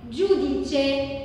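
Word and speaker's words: giudice: طب واخر حاجه لو جه الاي او هنطقها جو زي جوديتشي، ديتشي يعني القاضي، القاضي اسمه جوديتشي.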